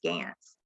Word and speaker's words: Gans: you all are wondering his name was gantz that was the german pronunciation for goose so when the goose family first moved here they were known as gans and so roscoe took